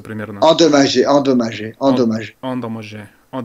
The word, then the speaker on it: endommagé: И еще получается вот это слово он дамаже, вот так произносится примерно. Endommagé, endommagé, Он endommagé.